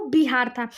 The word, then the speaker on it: बिहार: तुर्की आए, इंग्लिश आए, ये लोग विहार नहीं कह पाते रहे थे। इनका जो प्रोनाउंसिएशन था वो बिहार था। वहीं से धीरे धीरे इसका नाम बिहार से चेंज होकर बिहार बन गया था।